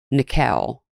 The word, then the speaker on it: Nickell: Also in the park that morning was Rachel Nickell. It's spelled like nickel, but it's Nickell.